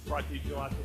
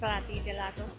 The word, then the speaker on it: Frati Gelato: Frati Gelato Cafe. There's no accent, so I can go with it. Frati Gelato.